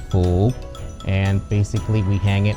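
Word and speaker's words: 福: In Chinese, it's pronounced Fu.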